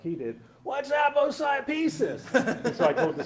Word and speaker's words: aposiopesis: But my daughter used to call it apple pie pieces, and that's how you can remember how to pronounce it, Charlie.